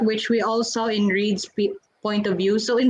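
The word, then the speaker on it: Reid: Is it Reed or Raid? I don't I know think how to it's Reed. pronounce. I think it's I think Reed.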